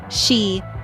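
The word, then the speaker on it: 四: The word for 4, shi, sounds eerily similar to the word for death.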